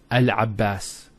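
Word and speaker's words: العباس: Not Abbas, Al-Abbas, which is a masculine name.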